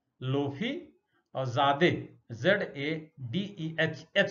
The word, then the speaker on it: Lotfi: और इनका नाम था लोफी ज़ादे, LOTFI, T साइलेंट है, लोफी, और ज़ादे ZADEH साइलेंट है।